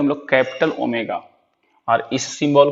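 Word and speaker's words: Omega: काई, ये साई, ये ओमेगा। देखिए अभी तक आप इसको पढ़ते होंगे ओम, लेकिन ये ओम नहीं है, ये कैपिटल ओमेगा है और ये स्मॉल ओमेगा है।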